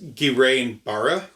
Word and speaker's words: Guillain-Barré: It will, since I looked up exactly how to, pronounce it, it's Guillain-Barré.